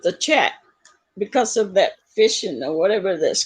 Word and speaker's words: phishing: Because I can't do anything with the chat because of that phishing or whatever that's called. Fishing? What's that? Is it pronounced phishing?